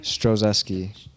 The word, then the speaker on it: Strozeski: Strozeski. It's Polish. Come on. Yeah, it's Polish. Yeah. You better let them know. Yeah, ski. But Yeah.